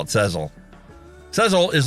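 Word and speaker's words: Sezzle: My wife says I pronounce it wrong. Sezel is how I should pronounce it. She says, I call it Sezel.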